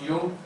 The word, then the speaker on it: Jung: He's spelled as Jung, but he's pronounced Jung.